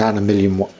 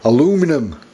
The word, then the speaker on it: aluminium: I'll probably get uh an aluminium aluminium tip or if you're an American aluminum I don't know why you pronounce it like that but new tip and